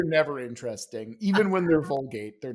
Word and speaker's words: Vulgate: just want to Is it name them after Vulgat? toothpaste. What's that? Is it Vulgat? No, he said Vulgate.